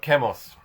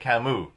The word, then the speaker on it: Camus: His name is spelled Albertcamus, and I'd always thought it was Albert Camus. But anyway, it turns out because he's French, I must speak it in the French way, which is Albert Camus.